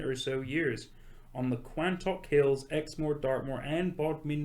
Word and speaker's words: Quantock: so years on the Quantock Hills, Exmoor, Dartmoor and Bodmin Moor. it's like Crantock Hills? Quan. I thought you just had a problem with your speak. No, yes, it's not Crantock, it's Quantock.